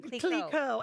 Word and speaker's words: Clicquot: Clicquot.